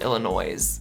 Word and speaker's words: Illinois: Strike 2, every time she pronounced Illinois, she called it Illinois, and even Drac called it Illinois. It's not Illinois. The S is silent.